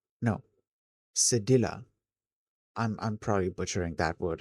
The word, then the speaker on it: cedilla: In French, that little hook under the C called cadella, no, cedilla. I'm probably butchering that word as well. Tells you to pronounce it as a soft s rather than a hard K.